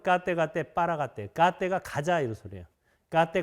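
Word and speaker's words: गते पारगते: 까떼 빠라가떼 빠라쌍가떼 보디스와 이렇게 끝나죠? 이걸 이제 한문으로 번역해가지고 한문을 또 한글로 읽으니까 아제 바라아제 바라승아제 모지사바라고 이렇게 엉뚱한 발음으로 하는데 원래 발음은 까떼 빠라가떼.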